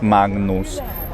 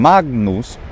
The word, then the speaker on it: Magnus: But in the middle of words, like in Magnus, it is pronounced. And here's where we wonder, like, should it actually have a velar nasal sound? Should it be Magnus, like king or sing plus a na?